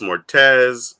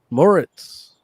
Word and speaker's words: Moretz: It's like friggin' Eugene Lee Yang, Chloe Grace Mortez, Riz Ahmed, RuPaul, Lorraine Toussaint. It's like Who? everybody, like, huh? Mortez. Mortez? Chloe Grace Mortez. Moritz.